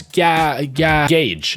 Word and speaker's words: gauge: to say it okay I'm sorry for saying gge I I I I didn't know it was g g gauge Narrow Gauge I did